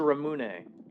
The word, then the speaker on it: Ramune: I can help you pronounce ramoon or is it ramune?